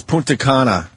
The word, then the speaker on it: Punta Cana: Yes, Punta Cana.